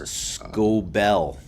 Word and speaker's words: Skubal: Is that how you pronounce it? I think it's Skubal.